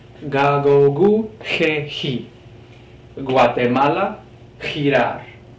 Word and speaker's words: Guatemala: Here's another example of having two pronunciations. Guatemala, Guatemala. You can hear the soft G, G sound.